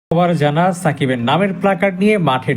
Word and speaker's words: সাকিব: এস এ কে আইবি অর্থাৎ আল হাসানের নামের ইংলিশ স্পেলিং অনুযায়ী উচ্চারণ করলে নামটি সাকিব হবে না হবে শাকিব কিন্তু তানজিম সাকিবের বাংলা ইংরেজি দুই উচ্চারণেই হবে সাকিব তাই খুব খেয়াল করলে